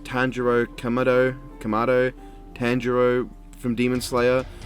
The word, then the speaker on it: Tanjiro Kamado: want to say i want to say it's pronounced tanjiro kamado kamado tanjiro from demon slayer one of the